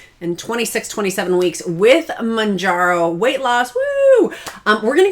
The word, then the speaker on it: Mounjaro: how do you say Manjaro I frequently say it improperly I don't know why I have I don't know it's manjar like a pickle jar manjar oh um and I